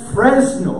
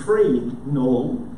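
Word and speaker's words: Fresnel: l and it's called free null and the s in the center is silent which is really significant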